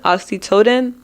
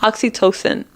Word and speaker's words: oxytocin: us females we release this hormone called oxytocin oxytoden oxy token I think I'm saying it wrong hold on oxytocin and it's a love hormone and it makes